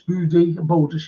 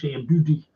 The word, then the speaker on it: Boudicca: That's how you pronounce Boudicca, Boudicca.